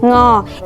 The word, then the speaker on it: ง: Okay, today I will show you how to pronounce Ngo is from the back of your throat and nose.